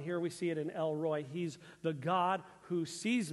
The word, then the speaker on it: El-Roi: El-Roi. It's spelled R-O-I, but pronounced like Roy, like R-O-Y, then with two E's. Roy-E, kind of, it's El-Roi.